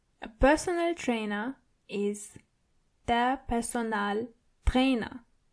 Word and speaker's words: Personaltrainer: A personal trainer is der Personaltrainer. So it's similar, but you have to roll your R one more time. Der Personaltrainer. And the A in personal is more obvious than the English version.